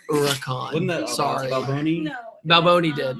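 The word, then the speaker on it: Huracán: correct my pronunciation yeah like Huracan no it's oricon and that sorry nobody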